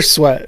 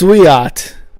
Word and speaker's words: Sweat: I think that's another sweat yeah right yeah I was like he said Mont sweat and I'm like what was he traded before the deadline no you're good it's pronounced suat they're gonna call something